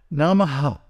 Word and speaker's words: namaḥ: Namaha. Right? Now, the visarga is pronounced when it is at the end of a line.